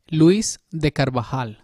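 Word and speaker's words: Luis de Carvajal: this slide over here how do i pronounce that name luis de carbajal yeah beautiful i was right thank you thank you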